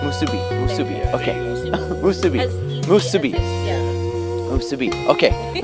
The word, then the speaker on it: musubi: Musubi.